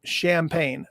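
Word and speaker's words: Shampayne: is managing a band by the name of champagne not spelled like normal it's s-h-a-m-p-a-y-n and if i recall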